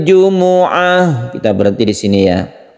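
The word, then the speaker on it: الجمعة: Bighunnah kita panjangkan kemudian hati-hati di kata-kata Jumuah ya Ini bukan Jumat Tapi memenya itu berharakat dhammah jadi membacanya Yaumil Jumuah kita berhenti di sini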